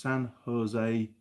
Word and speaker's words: San Jose: sorry mate um jim haynes uh it's pronounced san jose san jose san jose jersey okay uh mike